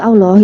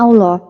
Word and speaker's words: Allah: Huruf-huruf Indonesia menulis Allah seperti ini.